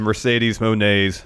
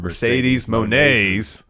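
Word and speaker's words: Mercedes Moné: be the date of Mercedes Monet Mercedes Monae gosh Mercedes Monet I still said it wrong Mercedes mon aw debut why because she's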